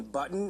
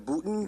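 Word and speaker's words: Boutin: yeah I didn't real if you had called Mr Anthony button instead of botin that would be a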